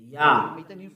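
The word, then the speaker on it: יה: How to pronounce it? Yah. According to the Hebrew, when you see this word, it is read Yah in Hebrew.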